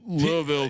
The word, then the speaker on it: Louisville: And Louisville, who by the way, it's got people are so happy that I'm at least putting effort into trying to pronounce the word Louisville correctly.